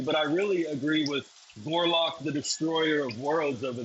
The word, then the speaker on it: Gorlock: You're saying the name wrong, but I know exactly what you're talking No, about. no, I'm not. It's Gorlock, the destroyer of worlds. Gorlock, the destroyer of worlds.